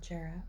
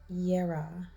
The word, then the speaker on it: Jarrah: the primary message of jarrah oh i am pronouncing it wrong i'm so sorry is yera yeah yeah has to do